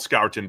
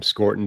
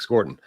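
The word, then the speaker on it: Scourton: get to Nick Scorton uh who we've called Scoutton before. I think we're going to roll with Scortton now that the Beast is out.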